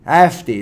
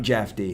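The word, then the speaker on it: Jefté: stadium had he started for Noosa Jay is pronounced as hey thank you mate thank you Hefty Hefty there we go not jefty Hefty there we go I mean I'm not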